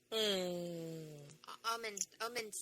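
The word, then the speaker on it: Omundson: Omond, no, not Osmond, it's, I always say his last name wrong.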